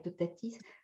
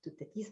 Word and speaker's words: Toutatis: Il faut prononcer le Oui, S. Oui, c'est ça. Et toutatis, comme Astérix. Oui, toutatis.